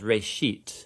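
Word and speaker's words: ראשית: It's pronounced reshit, and it just means beginning.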